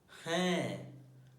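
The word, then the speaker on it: हैं: And third one is hai. Hai is not hai, it is different from hai. Like there is a nasal sound at the end, like half nasal.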